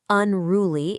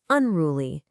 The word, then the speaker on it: unruly: It's not unruly, it's unruly.